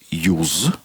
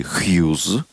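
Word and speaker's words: Hughes: Прошло всего несколько десятилетий с той поры, как британец Джон Джеймс Юз или Хьюз как произносить можно по-разному его фамилию, ну, можно по-русски, по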